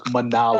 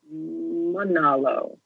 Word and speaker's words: Manalo: But anyway, it's Manalo. Hello. Oh, there you go. Monolo. Yeah, okay, there we go. Oh, my goodness. Accents. We're going to go with Ben. Yeah. Accent the middle. Manalo. Manalo.